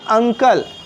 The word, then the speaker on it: uncle: तो UNCLE क्या होगा? अंकल। औ का उच्चारण यहाँ हो रहा है ना।